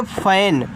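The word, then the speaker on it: fan: आगे देखो यफ ए एन, इसको पढ़ेंगे फैन, तो यफ से आपका फा हुआ, ए का उच्चारण एक ही मात्रा के रूप में, यन से आपका ना फैन, और फैन का मतलब होता है पंखा।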